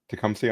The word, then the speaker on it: Tecumseh: Tecumseh, Ontario.